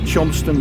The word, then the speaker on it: Cholmondeley: Chonston Lock, but it's spelled, I found out, but I even looked it up, it's spelled Cholmondeley in that crazy aristocratic, well, people think it's just a place name, isn't it? It's not aristocratic. So it's Chonston.